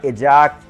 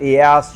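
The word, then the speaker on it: Ajax: और उस ऑपरेशन का नाम रखा गया एजैक्स, एयास या एयाक्स। ये तीनों प्रोनाउंसिएशन है और ये जो टर्म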